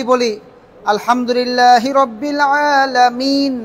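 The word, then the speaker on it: العالمين: উচ্চারণ হবে যেমন আমরা কি বলি আলহামদুলিল্লাহি রাব্বিল আলামিন না আছে এখানে কি আছে নুনের উপর কি আছে জবর আছে তাহলে এই যে আলহামদুলিল্লাহি রাব্বিল আলামিন লিখি যে আলামিনা এখানে থামলেন এখানে কি থামলেন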